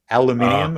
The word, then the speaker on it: aluminium: Well, it's aerospace quality aluminium, if I pronounce it in the English.